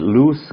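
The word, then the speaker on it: loose: 리우 라고 하는 뜻입니다 자유 루스 같은 경우엔 우리가 흥이 루저 싹 쓰나 이런 것처럼 로즈 라고 하는 의미로 좀 발음을 하기도 하는데 그거 보다는 루 스 루 라는 발음이 맞고요 아우터 라고 하는 것은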